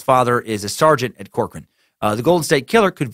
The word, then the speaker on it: Corcoran: Oh, just, and then you say it's pronounced Corcoran.